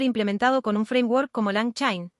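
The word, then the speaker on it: LangChain: El orquestador puede estar implementado con un framework como Lang Chin pronunciado, Lang Chin o con una lógica propia.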